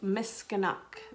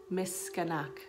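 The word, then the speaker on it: miskinâhk: about the turtle and this is miss canuck that is how you say turtle and cree miss skanak can you say that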